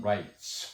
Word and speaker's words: rights: 인권, human rights, 발음도 S가 됩니다. 트스 이렇게 발음하면 안 됩니다.